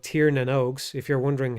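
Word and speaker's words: Tír na nÓg: So basically, the Alfheims, which in this game are called Tir Nanogs. If you're wondering how that's pronounced, it's Tir Nanog.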